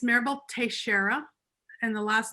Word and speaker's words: Teixeira: your name how do you spell it and pronounce it just so that um it's maribel tashera and the last name is uh t-e-i-x-e-i-r-a it